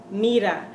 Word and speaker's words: mira: they saw this word, thought that this was actually a D because that's how we pronounce it. But it's really an R.